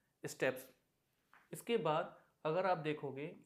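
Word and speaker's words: steppes: इसको बहुत से लोग प्रोनाउंस करते हैं स्टेपीज, जो कि गलत है, इसे करेक्टली प्रोनाउंस किया जाता है स्टेप्स।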